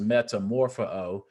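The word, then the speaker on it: μεταμορφόω: In Greek, there's a word that is used for transformation, and it's pronounced metamorpho. And if it sounds familiar, it's like metamorphosis, where we get our English word.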